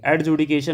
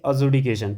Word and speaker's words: adjudication: एजुडिकेशन इसका देखिए डी यहां पे साइलेंट है। ये चीज ध्यान देंगे। एडजुडिकेशन नहीं बोलेंगे। इसको बोलेंगे एजुडिकेशन।